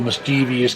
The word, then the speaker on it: mischievous: Now I get the mischieve part, that makes sense to me, but what I don't get is the vious. Where's this extra long E sound coming from after the V? There's no I there, there's no E there. There's no indication that we should be saying that at all.